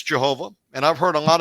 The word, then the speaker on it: Yehovah: His name is Yhovah.